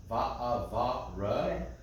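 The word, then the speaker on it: וַאֲבָרֶכְךָ: When this program has, this is the convention the program uses for shva na, that's the pronounced shva. It'll be a big, thick shva versus like here, the lila. You see that small trope, that small shva. This one's a big one. That means it's pronounced va'avarecheka. Ka, because it's kaf sofit.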